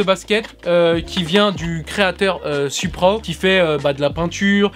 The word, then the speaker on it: Supraw: Suprao, ouais. T'es sûr c'est Suprao? Ouais, S-U-P-R-A-W, donc ça fait Suprao.